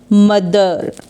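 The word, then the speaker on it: mother: read करते हैं fourth यहां पे टीटीएच बीच में है और टी एच के पहले भी एक वावल है और बाद में भी एक वॉवेल है तो द रीड करते हैं तो यह हो जाएगा मदर यहां पे लास्ट में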